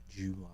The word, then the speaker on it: July: say fully July, because it is July is the pronunciation of it. It's a J-O-O sound. July. But I don't stress the U part. I just say July.